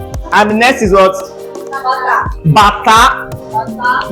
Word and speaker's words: Bata: So that bata is a musical instrument. Okay, so learn the pronunciation well.